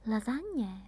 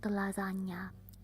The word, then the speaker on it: lasagne: Lasagne, maybe. So lasagna is also the nya. Lasagne. And it's not lasagna. You can't find the lasagna here because lasagna means that it's singular. But we say lasagne.